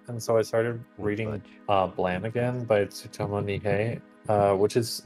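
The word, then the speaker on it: Blame!: what's it called again blam it's spelled blame oh yeah it is supposed to be blam um and I'm just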